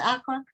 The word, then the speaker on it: Accra: I think that's where I think the author is from Accra. Is it pronounced Accra?